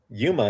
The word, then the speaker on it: Yuma: Did I pronounce Yuma correctly? Yes, yes.